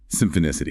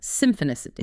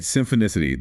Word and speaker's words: Symphonicity: Symphicity and remember that's pronounced Symphonicity, right? Symphonicity.